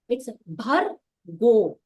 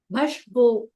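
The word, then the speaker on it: भर्गो: One another thing, it is ra, not sh. So it's bhargo, bhashgo. Some people are not able to pronounce ra and then they say sh. So that difference between ra and sh is very important.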